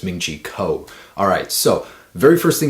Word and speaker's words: Ming-Chi Kuo: about the iphone 7 a man pronounce his name wrong again it's ming-chi kuo alright so very first thing he's saying about